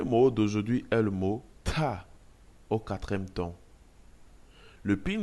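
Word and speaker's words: 大: Dans la langue chinoise, l'initiale D se lit comme le mixte entre la lettre T et D en français.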